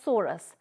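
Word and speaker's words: sorus: psori in singular we can say it or pronounce it as Soros which may or may not be covered by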